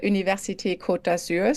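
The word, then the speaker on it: Université Côte d'Azur: Center for scientific research and also for the University kotur so that's the University of the French Riviera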